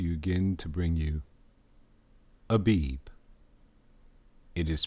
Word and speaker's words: Abib: This is Brother coming to you again to bring you Abib. It is pronounced Abib.